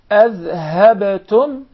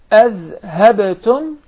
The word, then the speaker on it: أذهبتم: Azhabtum. Azhabtum. أذهبتم أذهبتم. So make sure that we do not confuse the ذال with the زاي.